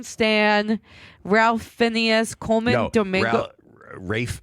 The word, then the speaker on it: Ralph: Rafe Fiennes is how you pronounce Why does he spell it like that?